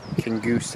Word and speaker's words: Kingussie: So we're at Kingussie station here, or it's actually Kingussie it's pronounced, we found out yesterday on ScotRail 170.